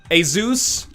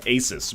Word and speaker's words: Asus: Fucking, what is this, Asus? And I think that's actually how it's pronounced. I used to call it Asus, but then people were like, actually it's a Swedish company, it's Jesus, or Asus.